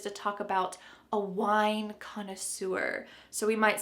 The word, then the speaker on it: connoisseur: Notice the English pronunciation here, connoisseur, connoisseur.